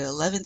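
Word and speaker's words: onze: That O-N is nasal, so you want to feel that in your nose. 11.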